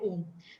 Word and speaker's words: ओम: मैं एक और बात आपसे शेयर करना होगी, right way of pronunciation of ओम। कई बार लोग कई डिफरेंट वेज से करते हैं, बट मुझे जो मेरे गुरु ने सिखाया है वो है अ, उ और म से बना है ओम।